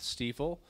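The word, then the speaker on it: Stifel: I'm with Stiefel. It's a German pronunciation.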